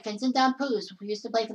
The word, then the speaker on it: Damphousse: I said it right, Vincent Damphousse, who used to play for the Toronto Maple Leafs.